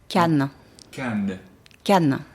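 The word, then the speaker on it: canne: maybe you can teach us all how to pronounce it 100% we'll do it 1 2 3 slowly can can can and then if there's two can in like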